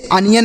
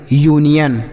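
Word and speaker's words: union: इसे अनियन नहीं पड़ेंगे। यूनियन।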